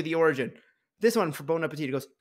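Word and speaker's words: Bon Appétit: oh okay uh Bon Appetit but it's bone b-o-n-e well yeah because it's really Bon Appetit not bone I got that it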